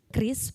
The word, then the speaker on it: QRIS: Jadi kris ini kita baca kris seperti kita menyebutkan senjata khas tradisional Indonesia, kris tapi tanpa jadi kris.